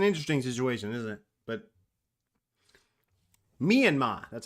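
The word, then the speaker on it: Myanmar: mat it's an interesting situation isn't it but mean ma that's how you say it myanma um moving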